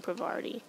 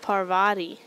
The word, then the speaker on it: Parvati: difficult to say but I keep saying Pavarti misspoke Parvati Parvati cool great controller batteries